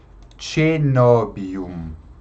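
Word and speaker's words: coenobium: Veja que aqui, ó, o ditongo é OE. Mas tanto o ditongo OE quanto o ditongo AE tem o som de E. Então, cenobium, convento.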